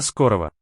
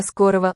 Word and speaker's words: скорого: До скорого. Да. Okay, скорого. До скорого. Скорого. Скорого. This last syllable here, that upside down L-shaped one, is really a g, but in some cases, v, as here.